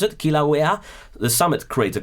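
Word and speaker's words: Kilauea: Can you pronounce it? Kilawea the summit crater called well another interesting name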